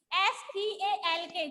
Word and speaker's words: stalk: स्टॉक कहते हैं हम, STALK, जिसमें L साइलेंट हो जाता है, ठीक है?